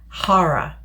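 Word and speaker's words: qarah: Now, in the original text, the root of the word is spelled Q-A-R-A-H, and it is pronounced Hara, which means right happening.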